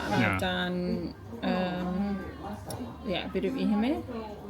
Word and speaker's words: Ehime: And specifically Ehime is that how you say it? Ehime.